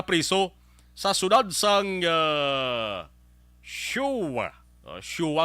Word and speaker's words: Choix: Shua ang pronunciation sa nagal isang CHOIX.